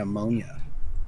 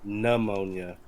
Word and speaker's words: pneumonia: Pneumonia. Pneumonia. Well, I read it the way it's spelled. With a P?